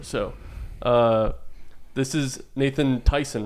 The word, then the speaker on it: Theisen: the way yeah it's not the spelt the same but it's definitely there's a lot of Tyson out in the world t y s o